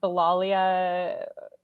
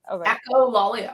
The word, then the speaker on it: echolalia: The Lollia? Echolalia.